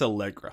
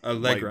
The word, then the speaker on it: Allegra: I think it's Allegra. Allegra. Like that sounds more right. Like the allergy medicine.